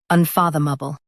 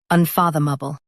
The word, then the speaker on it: unfathomable: Both US and UK have the same pronunciation of this word, unfathomable. Now read the syllables shown on the screen naturally. Fath, bull, unfathomable. Stress fath and keep light.